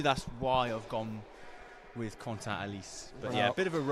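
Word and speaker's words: Quentin Halys: I think the official pronunciation is Quentin Alice.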